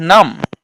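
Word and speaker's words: numb: করি ল্যাম ল্যাম্প নয় বা এন ইউ এমবি উচ্চারণটা করি আমরা নাম করছি না তাহলে এটা প্রশ্নটা আমাদের কিন্তু অনেকেরই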